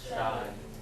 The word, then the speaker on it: شاي: Alright, so we have the alif, so shy. Shy. هذا مو شاي, هذا أقوى. How do we read this? She. So we don't have that alif sound.